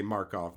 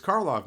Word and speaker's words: Karlov: Talking to Carly about it, I would say Markov Manor. And she was like, it's Karlov Manor.